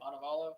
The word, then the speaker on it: Montevallo: University of Montavala. Did I say that right? Is it Montavala Bella Bola? How do you say it? Monavalo.